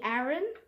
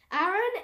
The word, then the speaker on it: Aaron: name um good morning aaron finally hello see we have the same name so if you just want to like pronounce my name correctly as well got it aaron and a.a ron okay now shush a-a-ron